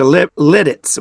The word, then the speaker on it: Lititz: We went to Lidditz, which is Lititz, pronounced Lidditz, But where they have a major pretzel place.